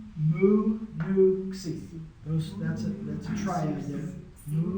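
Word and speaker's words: ξ: is, it's the X, but it's pronounced xi. Xi. That actually goes below the line. Something like that. So, if we were pronouncing it in English, we'd pronounce it like a Z, like xylophone, right?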